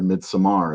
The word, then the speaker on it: Midsommar: Then 2019 comes around, and Midsummer came out, or Midsommar, as some people pronounce it. I just say Midsummer because I'm not fancy.